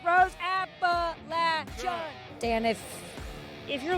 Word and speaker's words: Appalachian: Pronounce it right, Rose. Appalachian.